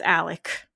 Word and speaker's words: Alex: is literally Alexander and his name is spelled Alex but it's Alec and even in my